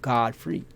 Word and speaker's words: Godfrey: Now, God free, or God's free to do whatever, as a boy's name is pronounced Godfrey, as the old German